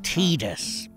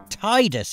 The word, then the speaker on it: Tidus: the main character firstly i can't accept how his name is officially pronounced tidus i spent ages saying titus instead because it seemed logical and sounded nice until i heard kingdom